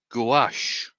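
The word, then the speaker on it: gouache: And um I'm going to pronounce this totally wrong. Gash.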